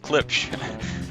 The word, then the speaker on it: Klipsch: Okay, so the thing I learned there that was most important is it is indeed pronounced Klipsch.